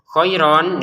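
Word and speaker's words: خيرا: Kemudian tanwinnya bertemu fa dibaca samarana kohair nun sukun ta ya samar kemudian ain langsung ke kohairon dibaca kohairo ya koiron dibaca koiro kalau berhenti panjang dua harakatan tatawairo kalau berhenti.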